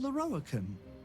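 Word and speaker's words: Lorroakan: I am Leroican. Leroican. I am most pleased to make your acquaintance. That's how you pronounce it.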